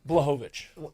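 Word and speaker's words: Błachowicz: All right, so Jan, how do you pronounce it? Blachowicz.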